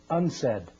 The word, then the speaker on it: UNCED: de janeiro the acronym unced stands for the united nations committee for environment and development it is pronounced unsaid and perhaps indicating the